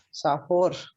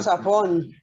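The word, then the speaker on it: צפון: No, termina en una. Ah, Safón. Perdón, Safón. Muy bien. Entonces esta es una nun sofit, la nun que va al final. Correcto. Listo. Esa no cambia. Listo, en el hebreo moderno y en el hebreo bíblico se dice igual.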